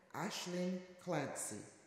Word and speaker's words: Aislinn Clancy: Deputy leader of the green party of Ontario ashleen clany Ashley she she tells me that her name